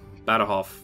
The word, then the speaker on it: Badajoz: Oh, I guess, you know, Badajoz. Badajoz's a little bit different. Because you would, if you were just saying it how it's spelled in English, say Badajoz. Badajoz? You wouldn't say Badajoz.